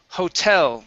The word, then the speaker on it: hotel: um next up is hotel the stress here is at the end of the word hotel very good okay this